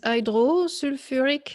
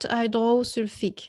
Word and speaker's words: hydrosulfuric: acid so another example h2s is hydrosulfuric acid and not hydrosulfic so even though the sulfur becomes the sulfide ion here we keep the you are because it's easier to pronounce so it's sulfuric not surfic so because it's a